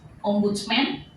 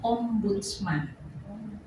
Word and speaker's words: Ombudsman: Jadi bacanya bukan Ombudsman atau temannya Spiderman atau Batman, tapi bacanya Ombudsman.